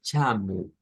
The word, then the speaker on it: chamo: o que sea Portugal, siempre al final de las palabras las O se pronuncian como U. Entonces, chamu, Eduardo, es sonidos, digamos, con ese acento.